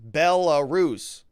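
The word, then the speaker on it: Belarus: Eddie Oliver says, "Rob, it's pronounced pronounced Bellarus."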